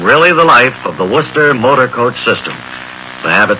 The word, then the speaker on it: Worcester: a mr wl of warchester massachusetts i think that's pronounced worcester a mr wl of